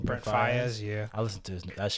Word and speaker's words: Brent Faiyaz: Brent Faiyaz.